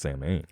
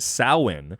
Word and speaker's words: Samhain: step on your toes but it's actually not pronounced same of course it's not i'm just a godless heathen samhain is is actually not pronounced that way but rather it's actually pronounced samhain as it is a gaelic word and thus